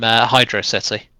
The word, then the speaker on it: Hydrocity: The fans, of course, from Hydro City. Mm-hmm. Probably start an argument in the comments over how you pronounce that, even though there really is no argument.